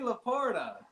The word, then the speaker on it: Laporta: Oh, Marie Laporta.